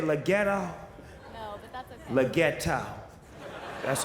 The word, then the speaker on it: Leggero: Leggero.